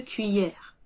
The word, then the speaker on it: cuillère: Ensuite, au petit déjeuner, nous prenons une cuillère. Cuillère. Cuillère. Nous le prononçons comme si c'était cuit, un plat qui est cuit, puis hier, comme dans hier le jour d'avant.